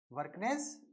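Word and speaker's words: Bjerknes: उनका स्पेलिंग क्या है, वी बी जे, J silent है, वर्कनेस जे वर्कनेस।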